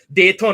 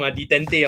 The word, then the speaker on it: détente: So must be fancy and pronounce the French way. I like that. Dayton also, Mr. Fang is correct. I wrong. Detente wrong.